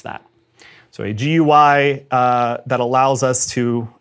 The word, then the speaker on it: GUI: interface or a gui if you want to pronounce that so a gui uh that allows us to interact with the